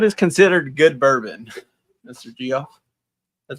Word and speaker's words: Geoff: Jeff.